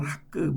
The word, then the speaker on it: 학개: 캐톨릭에서는 학그 이렇게 발음을 합니다.